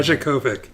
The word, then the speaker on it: Dijakovic: Dijakovic.